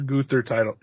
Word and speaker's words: Gunther: I'm excited for a Gunther title defense. I should say it right. It's Gunther.